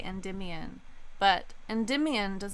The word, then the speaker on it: Endymion: line in that song is like Celine and Enda Mayan which is not the way that people pronounce that name people say Endymion but and dim Ian does not rhyme with